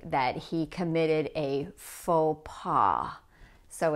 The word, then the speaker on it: faux pas: Notice that the X and the S are not pronounced. They are silent, just as they are in French.